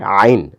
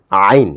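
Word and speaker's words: عين: পার্থক্য হচ্ছে এটা একটু ধাক্কা দিয়ে একটু দাবায়ে পড়তে হয়। আইন আইন এইযে গলার ভিতরে একটু চাপ দিতে হয়।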